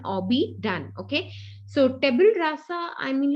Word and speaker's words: tabula rasa: Okay, so tabula rasa rather, I would say tabula rasa.